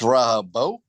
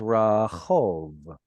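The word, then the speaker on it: רחוב: It's Rahabo. This is Rahov.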